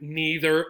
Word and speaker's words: neither: So we have N-E-I-T-H-E-R. What do we have then? We have another word, right? Neither or neither. Again, both pronunciations are correct.